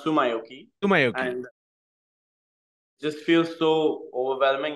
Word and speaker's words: Tsumyoki: how does it feel Sumi first of all it's pronounced Sumi sui and just feel so